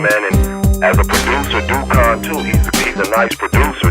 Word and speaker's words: Duccone: Dukan. That's how you pronounce that.